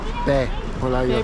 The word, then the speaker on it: 배불러요: Which pe means stomach and bolayo means full. So that's how they say it. Pe, bolayo.